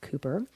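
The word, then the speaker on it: Cowper: who first mentioned the term cucko clock and Cooper by the way is spelled c WP R but pronounced Cooper but back to cuckoo they are really beautiful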